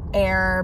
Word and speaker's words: Aire: And I called the Aire Baths, Ancient Aire Baths, which I can't wait to tell you guys about.